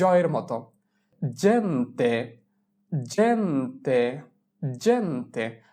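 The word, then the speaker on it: gente: এখানে জি এর উচ্চারণ হবে জ এর মতো। জেন্তে, জেন্তে, জেন্তে।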